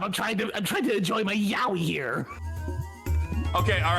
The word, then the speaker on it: yaoi: I thought it was yayo for like a decade.